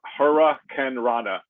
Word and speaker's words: hurricanrana: one uh hurricanrana okay hara ken rada is what it's pronounced and that is i